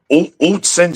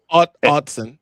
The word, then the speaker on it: Autzen: Indiana went into Utsen Stadium. I believe that's how you pronounce it. Autzen. Autzen, excuse me.